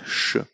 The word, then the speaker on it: ș: This is an S with this small comma here. It's pronounced sh.